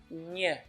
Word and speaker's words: nh: to talk about is the NH sound, which is nha in Portuguese. Nha. Take for example the word banho. Banho. This nha sound is hard to pronounce because it's hard to imagine how this NH will be pronounced like nha. But that's pretty simple actually. All you have to do is press your tongue up against your palate and just say it nha. Nha.